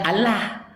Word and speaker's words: Allah: Setelah itu bertemu dengan huruf H. Ya, huruf H ini makhrajul hurufnya al-halqi bagian bawah sama dengan alif dan sifatnya ini adalah rohwah, mengalirnya suara. Allah. Begitu kami membacanya.